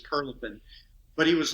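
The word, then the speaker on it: Prilepin: Louis was big on mispronouncing things, but I think he called the guy Prilipin, but I think it was Perlipin.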